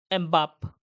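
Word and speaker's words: Mbappé: तो यह है आपका एमबाप। ठीक है? तो क्या प्रोनाउंस करेंगे? एमबापी प्रोनाउंस करेंगे।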